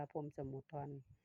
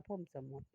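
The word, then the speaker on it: พรหมสมุทร: ฟัง เด้อ พี่ น้อง ส่วน มาก คน สิ อ่าน แต่ ว่า พร สมุ ทอน จริง ๆ อ่าน ว่า พรม สมุด ฝาก กด ไลค์ กด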